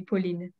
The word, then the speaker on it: Pauline: The French pronunciation would be Pauline.